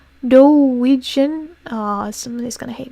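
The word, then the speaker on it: doujin: I almost said Dijon, like Dijon mustard. I love Dijon mustard. No, it's Dojin.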